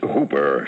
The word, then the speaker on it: Houper: The name's Hooper, spelled Houper, but pronounced to rhyme with Cooper.